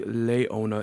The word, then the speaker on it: Leona: It is apparently Leona and not Leona because it's like a lion, like a Leo, like a Leo.